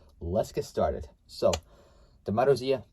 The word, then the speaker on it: Marussia: So yeah, pronounced Marussia.